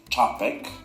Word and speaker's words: Czapek: I'm pretty sure that in Polish we pronounce it Czapek.